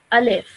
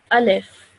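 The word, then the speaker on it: ألف: the actual letter okay so as you can see over here in English it says a live so that's easier for you to read as well and recognize each letter so this letter is a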